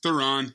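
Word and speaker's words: Theron: okay there you go we also get Charlie Thon theen Thon what is it I don't know Maz what is it it's Theon it's Theon that's Theon pronunciation I mean you want to look up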